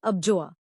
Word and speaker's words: abjure: आज का वर्ड है अब्जोर। इसका प्रोनाउंसिएशन है अब्जोआ।